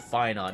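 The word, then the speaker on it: Phainon: Finon, no wonder he's called Finon. It rhymes with Paimon.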